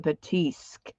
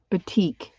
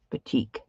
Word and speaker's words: batik: i mean i'm really batik okay i keep thinking there should be an s in there batik thank you girls i'm